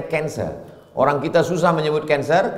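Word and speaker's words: cancer: darah menggumpal-menggumpal menjadi kser tulisannya c a n c e r orang barat membacanya kanser orang kita susah menyebut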